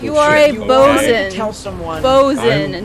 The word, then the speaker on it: boatswain: bosun. Tell someone. Bosun, I'm- not boatswain. It is bosun.